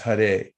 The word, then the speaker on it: Hare: Hare, it's pronounced Hare.